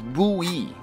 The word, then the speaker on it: buoy: boy i though it's a weird word to figure out how to pronounce but as far as i know it is buoy it is a buoy but maybe i'm